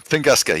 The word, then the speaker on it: Tunguska: Fanboy Master once flexed and caused the Tuscunga event and the San Andreas fault. Both of them. You mean the At the Tungus? same time? Tunguska, yes.